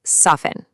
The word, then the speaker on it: soften: Take soften. The T in there completely silent.